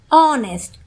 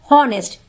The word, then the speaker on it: honest: He is an honest man. Hey, wait. This one is correct because H is silent here. Did you notice? Honest. The sound is not of honest. It's not honest.